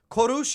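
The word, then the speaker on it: Kourosh: Korush is how you say Cyrus in Farsi, or like Persian.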